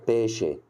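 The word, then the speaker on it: pesce: نكتبها عندك في المذكره الثلاث حروف دول لما بتلاقيهم على بعض كده تنطقوا شي ش بص هنا نطقتها قلت ايه قلت ب شي ب شي اللي هي طبعا معناها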